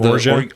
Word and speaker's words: orgeat: And that's a good call, Jason, with tiki drinks too, is the almond in the form of orgeat. Orgeat? Is that how you pronounce orgeat?